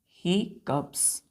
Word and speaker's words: hiccups: HICCUPS, हिकअप्स। हिकअप्स क्या पढ़ते हैं इसको, प्रोनाउंसिएशन हिकअप्स।